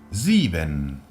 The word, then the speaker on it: Sieben: Sieben. Sieben. Volvemos a tener una S a principio de palabra, por tanto la pronunciaremos sonora. Z. Después volvemos a tener una IE, que es una I larga.